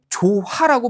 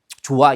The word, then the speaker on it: 좋아: 받침 히 모음으로 시작하는 형식 형태소와 결합하는 경우에는 히을 뭐 하지 않는다? 발음하지 않는다. 그래서 어떻게 발음하는 거예요? 좋아. 이렇게 발음하게 되는 거죠.